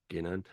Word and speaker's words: Ginan: This star holds the traditional name Jinan. Ginan. Try and tell me in Slack. Try and show me phonetically how that's Ginan.